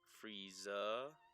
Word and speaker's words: Frieza: Frieza practically rhymes with Jesus. Frieza, Jesus.